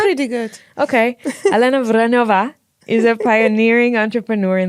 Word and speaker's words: Vránová: But Vránová, is that how you say it? Vránová. Yeah. Pretty good? Pretty good. Okay. Alena Vránová is a pioneering entrepreneur